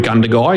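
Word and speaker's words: Gundagai: Is it Ganduy? Is that how you say it? Yeah, Cudamandra Gundy is a is a merged council.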